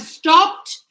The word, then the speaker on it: stopped: So we have stopped not stop it stopped hugged hugged. So this sound is t and this sound is d.